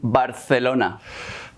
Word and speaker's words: Barcelona: probably notice is that northern Spaniards pronounce Z's and C's as a TH sound We actually only do it when the C comes before an I or an E like in Barcelona Hey how was Barcelona?